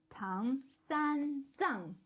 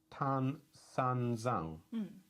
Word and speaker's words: Tang San Zhang: Tang San Zhang. So this G is silent, this G is not. Tang. Tan. Tang San Zhang. Tan San Zhang. San Zhang. Tan San Zhang.